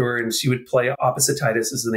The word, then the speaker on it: opposititis: You say, look, you've probably heard of arthritis, gingivitis, elephantiasis, opposititis, and you even helped me pronounce it. Opposititis.